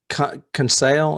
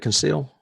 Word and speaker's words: Conseil: don't know okay um conceal is how you say it conceal conceal it's uh peter